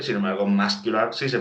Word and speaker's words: muscular: muscle no se pronuncia la C, sin embargo, muscular sí se pronuncia la C.